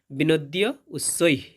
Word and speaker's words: বিনদ্যোচ্চৈঃ: এরপর হবে বিনোদ্য উচ্চৈ। এইখানে জ ফলার জন্য যেহেতু ওকার রয়েছে তাই হবে উ এবং শেষে বিসর্গ থাকার কারণে অর্ধেক হওয়ার মতো উচ্চারণ হবে বিনোদ্য উচ্চৈ।